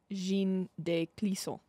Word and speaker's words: Jeanne de Clisson: Can I see the pronunciation? I won't look at any Sure. notes. Yes. Right there. Jeanne de Clisson.